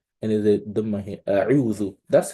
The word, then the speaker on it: أعوذ: But imagine you want to pronounce this, but instead of giving this one a dhamma, you give it a fatha. You give it a fatha. In that regard, you've changed the meaning of that word, right?